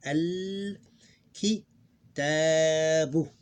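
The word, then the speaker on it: الكتاب: So this is the first word in the sentence, so we pronounce everything al kitabu.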